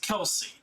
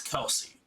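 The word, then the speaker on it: Kal'tsit: is what most people think that's how you pronounce their name it's kelsey as much as it's like what are you talking about seeing seeing hands with the translations and stuff like that it's kelsey that's what i'm basing it off from that's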